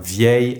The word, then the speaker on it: vieil: Ami here is masculine but because it starts with a vowel, with these specific adjectives we use the pronunciation of the feminine adjective while writing it as a masculine with a single L.